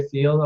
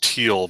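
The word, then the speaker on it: Thiel: but this guy Peter theel are you familiar with Peter theal Alex I believe it's pronounced teal by the way oh sorry yeah uh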